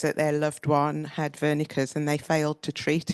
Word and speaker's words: Wernicke: Listening to Zeff's talk about Wernicke's, I was born in Germany, so I'll pronounce it Wernicke's.